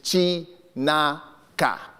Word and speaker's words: Chinaka: My third name, and this is very traditional, and I'll pronounce it as it's spelled, is Chinaka.